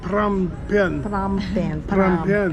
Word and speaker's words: Phnom Penh: but I'm I'm sure you pronounce the way they do pram Pan um is the